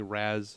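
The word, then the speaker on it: Ra's al Ghul: R Alou course and I do say re alul yeah yeah that's in my not specifically no I I've I've looked into it and apparently Raz or some version of Ross is is probably more more uh accurate but the Creator says his name is R that's all it is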